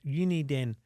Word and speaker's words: Uniden: Uniden. That's how you say it.